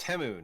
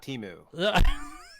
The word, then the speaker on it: Temu: Oh, It's pronounced Temu, not Timu.